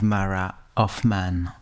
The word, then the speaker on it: Hoffman: Today I am with Mara of Man. Is it the right pronunciation?